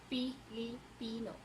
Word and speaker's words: Filipino: Now next, F will become P. Like Filipino, it's Filipino. Okay.